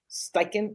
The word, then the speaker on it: Steichen: As far as the coach, Shane Steichen, how do you pronounce his last name? Steichen? Yeah. Steichen.